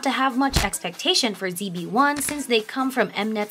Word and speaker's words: ZB1: a boy group second even when it is shortened to zb1 pronounced as jb1 the name still comes